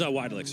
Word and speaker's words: Weidlich: Is it Weidlich? I mispronounced his name earlier. It is Weidlich.